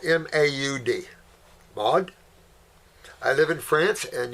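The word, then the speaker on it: Maud: name with pleasure okay well her first name is spelled m-a-u-d mod i live in france and yes he can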